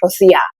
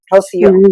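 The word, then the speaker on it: Rocío: my name is not Rosia my name is Rosio you get what I'm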